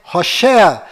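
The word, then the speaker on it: הושע: Mas a pronúncia correta de Oséias é Hoshea.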